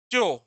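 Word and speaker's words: chore: च्यो, देखो ये थोड़ा प्रोनाउंसिएशन इसका दिक्कत करता है।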